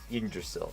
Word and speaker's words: Yggdrasil: us the achievement of Yggdrasil? Or Yggdrasil? How am I pronouncing this? Biomes aplenty. Here we go. Yggdrasil. Yeah, I've said that right.